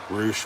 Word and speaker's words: Rush: here he comes um as it's spelled rush r-u-s-h roosh with his horns gonna